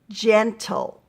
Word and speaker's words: gentle: finished gen o gentle if you clap out gentle you've got gen toe and remember that every syllable needs a vowel so that e at the end it's not doing anything it's not making a sound it's the vowel for that part for that syllable because we have two syllables gen toe all right and you